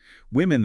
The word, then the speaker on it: women: Women that short I sound.